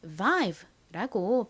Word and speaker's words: vibe: 자, 그래서 이 I는 장모음 소리, I 소리가 나고요. 그리고 B는 비읍 소리, B 소리가 납니다. 끝에 있는 떨거지로 소리가 나지 않죠? 그래서 이 단어는 vibe라고 발음이 되는 거죠.